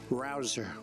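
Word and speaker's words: Rouzer: Petersen David Rosen hey you know how you pronounce it rabble rouser you go David rouser where's David is he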